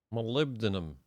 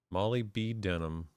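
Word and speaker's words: molybdenum: Malibdinum. Molly B. Denim. That's how I always pronounce that in my head, but I knew it was malibdinum, but kind of how I remembered to spell it.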